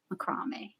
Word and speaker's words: macrame: But yeah, Macrame. that's. Oh, Right. How Kitty did that is how the UK, I think, pronounces it. Macrame. It's different. macrame.